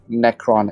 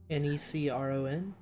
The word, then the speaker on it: Necron: do you spell that n-e-c-r-o-n yeah necron that's how i heard cypher say it but i usually just refer to it as necro it's probably cypher's homebrew